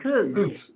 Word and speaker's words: Coates: There are two new proposed streets, east-west streets that connect, how do you say that, Coates Avenue? Coots? Couch. Coots. Yeah. Okay, Coots Avenue.